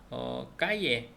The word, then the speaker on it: calle: 그래서 까예, CALLE.